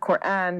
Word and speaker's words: Quran: question dr shabir is what does the word quran mean yeah so the word quran as as you pronounce it rightly uh has uh you know